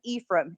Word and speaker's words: Ephraim: and that was an Ephraim everybody pronounces it wrong but it that was an E from Utah and so I went